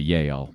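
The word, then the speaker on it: Jael: Heber and his wife jel or if it's Jewish it's probably yel but we'll say JL here yeah we pronounce our Jay's in the west yes we'll stick with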